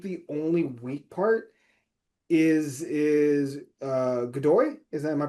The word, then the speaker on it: Godoy: I think the only weak part is Godoy. Is that, am I pronouncing that correctly? Iñaki Godoy, yeah.